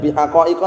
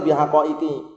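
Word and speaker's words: بِحَقَائِقِ: Haqaiqa di sini barakallahu fikum itu aslinya enggak boleh tanwin. Tidak menerima kasrah juga aslinya. Cuman karena dia itu mudhaf akhirnya batal. Jadi bacanya bukan bihaqaiqa tapi bihaqaiqi.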